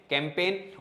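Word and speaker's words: campaign: तो जी के बाद एन है तो जी क्या हो जाएगा? साइलेंट। अब पढ़ के देखो, इसको छुपा के देखो, कैम पे ने, कैंपेन।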